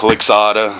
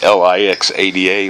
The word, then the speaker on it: Lixada: Oh man, so we did a video on the Lixada. I hope that's how you pronounce it. It's L-I-X-A-D-A, Lixada.